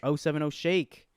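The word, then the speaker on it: 070 Shake: guilty conscience by o70 shake 70 shakes 07-0 shake there it is that's how you say it oh seven no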